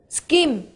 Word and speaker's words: scheme: to the new road scheme? Từ này chúng ta đọc cái âm CH này thì chúng ta đọc là âm K nhá. Đọc câm mà đọc thành K, scheme, người ạ, new road scheme.